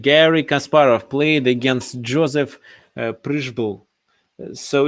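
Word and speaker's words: Přibyl: Kasparov played against Joseph Prishbul. So it's difficult to pronounce this um, uh, Czech last name. So here it's written Pribel, but actually we should pronounce it as Prishbul without E sound.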